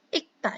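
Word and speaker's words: 읽다: Lalu Sam, kenapa ini dibacanya ikta? Kan di sini ada real. Kenapa? Karena kalau dalam bahasa Korea itu ada beberapa aturan cara pembacaan. Nah, kalau di sini ketika real dengan giok ini bersatu seperti ini, yang dibacanya itu yang belakangnya, yang ini, yang giok. Sehingga dibacanya menjadi ikta. Ikta.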